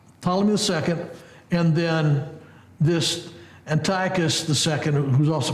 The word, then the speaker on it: Antiochus: Well, as we look at verse 6 prophesies what occurred between Ptolemy II, or Ptolemy Philadelphus, and Antiochus Theos. I go back and forth how to pronounce this word, and I think the most